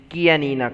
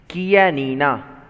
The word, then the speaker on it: Chianina: Chianina. Repeat it one more time. Chianina. Okay, and the last time, Chianina. Okay, so though it is CH, we are going to pronounce as K, Chianina.